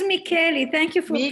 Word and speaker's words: Micheli: Is it Micheli or Micheli? It is Micheli.